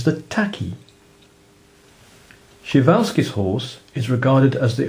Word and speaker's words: Przewalski: cope with the dinosaur this horse is called PR's horse or more commonly and appropriately shal's horse of course you could just refer to